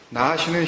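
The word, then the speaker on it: נחש: 나하쉬는 히브리어 알파벳 ABCD 이렇게 있는 것처럼 눈, 헤트, 쉰, 이 세 개의 철자가 스펠링이 만나서 이루어진 단어예요.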